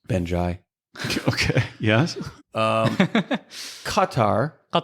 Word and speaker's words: Qatar: Qatar. That's how you pronounce it in Arabic. I was just about to say it that way. Yeah. But Americans just call it Qatar.